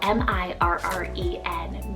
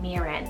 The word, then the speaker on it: Mirren: list here we have the name mirin spell m-i-r-r-e-n miran so this one is thought to come from